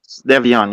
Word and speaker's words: Devion: And you, the mother, and is it Devian? Am I saying it right? Devion, yeah.